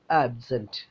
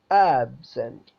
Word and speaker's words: absent: അഡ്ജക്റ്റീവും ആയിട്ടും കാണും പിന്നെ നൗണും അഡ്ജക്റ്റീവും ആകുന്ന സമയത്ത് നമ്മൾ ഫസ്റ്റ് സിലബിളിന് സ്ട്രെസ്സ് കൊടുക്കും ആ ട്രാൻസ്ക്രൈബ് ചെയ്ത് എഴുതിയത് നിങ്ങൾ കാണുക അതിന്റെ സ്ട്രെസ്സ് ഞാൻ പറയുന്നത് ശ്രദ്ധിക്കുക ആബ്സെൻറ് ആബ്സെൻറ് ആബ്സെൻറ് ആ എന്നതിനാണ് നമ്മൾ സ്ട്രെസ്സ് കൊടുത്തിട്ടുള്ളത് ആബ്സെൻറ് ആബ്സെൻറ് എന്നാൽ നോക്കൂ സെക്കൻഡിൽ